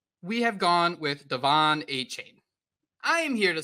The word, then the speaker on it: Achane: The Dolphins told us that we needed to pronounce it as Achane. So who knows where this is coming from. But to me, Achane sounds too much like 8chan.